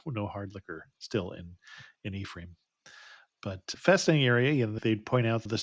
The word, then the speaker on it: Ephraim: But we would sail by Ephraim, I think is the way they pronounce it. I would Hmm. want to say it in the Hebrew pronunciation of Ephraim, but that is not how they pronounce it in Wisconsin.